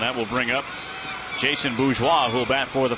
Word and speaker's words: Bourgeois: It is fun to say Bourgeois. B-O-U-R-G-E-O-I-S. You know how I spell that? B-O-O-Z-W-A-H. Bourgeois.